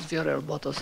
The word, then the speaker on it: Viorel Botos: I am not sure how to say this. It's Vioral? Modest? We'll let you correct it. Thank you. I apologize. I'm very sorry. Good evening. My name is Viorel Botos, and I live in 5111 East Orchard Avenue.